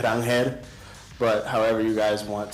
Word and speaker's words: Ranger: My name is actually Rangel, but however you guys want to address me, Ranger, is how most people do, so I'm comfortable with either.